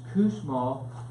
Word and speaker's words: Kussmaul: I was putting an H in it for like 15 years, okay, until someone corrected me. But it's Kussmaul.